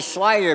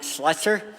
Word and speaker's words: Slider: My last name is actually Slider, but people keep pronouncing it Slutzer.